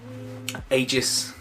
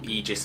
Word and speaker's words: Aegis: they introduced the agency ages or aegis as they pronounce it the who are sort